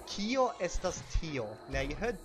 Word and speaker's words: kio: Okay, so the word for what in Esperanto is kio. Kio. And it's spelled K-I-O.